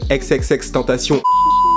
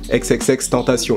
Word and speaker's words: XXXTentacion: Or, en fait, c'est exactement comme ça qu'on le dit. Tu regardes n'importe quelle vidéo, il t'explique qu'il faut le dire de la façon latine, donc en fait, française, tu vois.